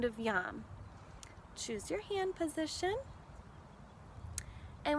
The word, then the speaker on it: yam: It sounds like that, yam. It's spelled Y-A-M, yam.